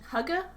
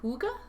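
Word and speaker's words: hygge: was going for like Hugga Vibes like the Scandinavian cozy Comfort kind of vibe uh h y g g e I think the correct pronunciation is more of a long o like Huga i' have to look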